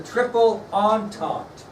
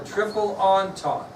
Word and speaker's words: Triple Entente: The next alliance, doesn't sound like it's spelled, was the Triple Entente. The Triple Entente.